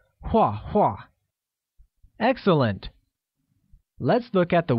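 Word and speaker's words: 画画: draw literally translates as hua hua which is pronounced with the falling tone note that the same word is repeated twice while saying wah wah excellent let's look at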